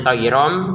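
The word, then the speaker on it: طيرا: Nah, tayronnya bertemu ba, kita bacanya tayrom, kemudian dengan di sini yang namanya samar.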